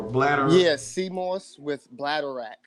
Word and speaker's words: bladderwrack: Yeah, sea moss with bladderwrack. It's okay. BLANDDR I'm about to spell it wrong. Bladder rack though. It's like bladder and rack.